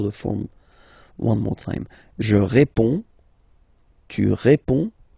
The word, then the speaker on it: réponds: Je réponds. Je réponds. Okay, so you can see that D and S here are not pronounced. Je réponds. Okay. Tu réponds.